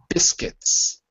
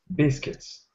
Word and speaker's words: biscuits: Vincent repeat after me biscuits biscuits there's yeah it looks like bisc but we don't pronounce the U so it's Biscuits biscuits